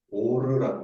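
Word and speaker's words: אור: 하는지요 빛을 뭐라고 하면 오르라고 합니다 오르 오르가 발음이이 오로라랑 좀 비슷하죠 그래서 오로라가 빛 빛이라는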